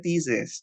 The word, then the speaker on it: thesis: Nah, ini di scientific text yang pertama ada si tesis ya, cuman bacanya bukan tesis kemarin. Bacanya apaan, Kak? Bacanya thesis.